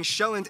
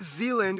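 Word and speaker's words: Sjælland: and 74 are inhabited the largest island being shelland not zealand which is not to be confused with dutch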